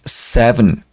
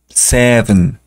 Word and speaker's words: seven: español six six después tenemos Seven la e no se pronuncia no decimos Seven Seven no Seven Seven recordar también que la v se pronuncia eh colocando sus dientes de arriba en el labio de abajo Seven Seven Seven parecido